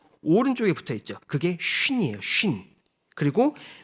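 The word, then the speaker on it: שׁ: 그래서 쉰은 여러분들 쉿 조용히 할 때 아니면은 배를 영어로 할 때 쉿이라고 하죠. 이런 발음으로 쉰. 이라고 하는 거고요. 좀 이렇게 바람소리처럼 나가고요.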